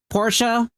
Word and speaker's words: Porsche: But yeah, but in any case, again, Porsche, that's how you can pronounce it.